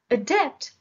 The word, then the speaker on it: adept: synonyms are post-script supplement adept the stress is on the second syllable adept is an adjective which